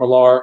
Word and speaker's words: Millar: This is the adaptation of Mark Millar or Mark Miller, depending on how you pronounce it.